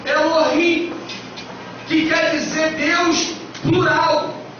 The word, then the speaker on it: Elohim: Essa palavra Deus aqui, no versículo 1, lá no original, no hebraico, tem a pronúncia que nós entendemos que seja Elohim.